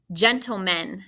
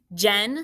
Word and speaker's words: gentlemen: three syllables go okay if you remember how to spell gentle you got two out of the three syllables jen spell it again g e n did you mark that that g sounds like a what j make sure you're marking that in unit 12.